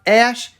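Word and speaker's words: Æ: the letter x and the ae is pronounced ash and then a12 is my contribution he then elaborated that a12 stood for archangel 12.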